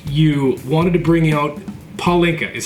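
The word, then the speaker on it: pálinka: Freedom, when you were out in Budapest, you wanted to bring out Palinka, is how it's pronounced. Palinka, yeah.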